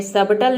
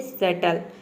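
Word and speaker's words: subtle: या फिर सटल में सबटल नहीं होता है ये होता है सटल इन सभी में बी साइलेंट रहता है गाइस अब देखते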